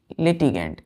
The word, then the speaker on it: litigant: Fourth word ये रहा, हमने बोला है लिटिगेंट, LITIGANT। क्या लिखा है बच्चों, LITIGANT, लिटिगेंट। प्रोनाउंसिएशन क्या करेंगे इसका, लिटिगेंट। इसको हम पढ़ेंगे बच्चों GANT को पढ़ते हैं गेंट, जेंट नहीं पढ़ते हैं, गेंट पढ़ते हैं, लिटिगेंट।